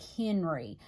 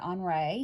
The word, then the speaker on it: Henri: But Henri Rousseau was a French artist, and so Henri in American would look like Henry. So, but the French pronounce it Henri.